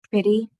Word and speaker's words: pretty: back to ety um sometimes T's when we pronounce them they can sound like D's like like um pretty like if you say pretty we don't say pretty unless we are really focusing on enunciating and pronouncing pronouncing our words correctly T's can some like sometimes sound like D's when you say them fast in a word and that's okay because it's so common but it's more proper